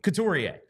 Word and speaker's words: Couturier: Well, his name ends in R-I-E-R, and it's spelled A, pronounced A. So, Couturier.